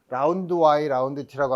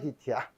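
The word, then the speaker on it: dy/dt: 거예요 국제기준에 맞추는 거야 여러분들이 어디 저 외국 학생이라고 만들 때 이걸 라운드와이 라운드트라고 하면 알아듣는 사람 하나도 없어요 이것도 dydt야 근데 DY dt라 그러면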